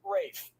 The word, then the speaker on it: Ralph: spelled like Ralph, but pronounced Rafe.